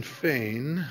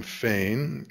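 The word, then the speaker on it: Fein: and Clinton Feain. He pronounces his name Feain, a hero from the digital world whose adventures with the first amen first amendment seem relevant to Google.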